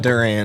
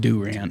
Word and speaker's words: Durant: uh where where did he live it was Duran Oklahom Duran Oklahoma Wyatt Rogers no no sorry how did you say that place it's called Durant it's pronounced Durant everyone calls it Durant but I don't know